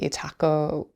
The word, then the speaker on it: Itako: But the thing that was really fascinating to me about the Itako, is that my pronunciation?